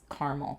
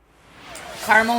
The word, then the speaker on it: caramel: I'm going to say this is caramel today. Caramel or caramel, depending how you say it.